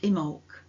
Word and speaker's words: Imbolc: Immol pronounced Imul comes from an Irish word that was originally thought to mean in the belly.